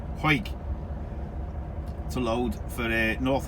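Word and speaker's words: Hawick: hike which is spelled h-a-w-i-c-k spelled howick but pronounced huik to load for a north allerton in yorkshire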